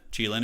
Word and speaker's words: Qilin: So, yeah, I don't hate the Qilin is how you say it.